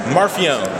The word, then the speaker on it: Marfione: Marfione.